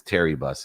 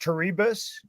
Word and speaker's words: Terebus: Your last name is Terry Bus, is that correct? It's pronounced Terebus, and then the haunt is called Erebus.